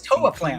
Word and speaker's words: Toaplan: games between No, it's Toaplan.